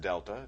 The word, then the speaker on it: Delta: over change in X that triangle which is pronounced Delta just a a Greek letter that means change